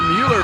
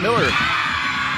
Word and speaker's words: Mueller: because everybody caught her Mueller but it's pronounced Miller gorgeous backhand spring layout